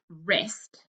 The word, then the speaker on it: wrist: that i'm writing is wrist right that's the key word we underline the silent letter combination and then we cross out the silent letter so in wrist the silent letter is w uh oh i don't